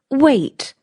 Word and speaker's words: weight: It's pronounced wait, like wait.